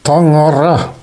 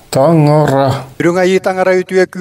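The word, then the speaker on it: Таҥара: On prononce ce mot en yakoute Tangara. Tangara.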